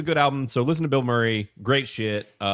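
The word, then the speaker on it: Bilmuri: Uh, and because I'm just such an absolute uh shill for Bill Murray, the band spelled with one word, B I L M M U R I.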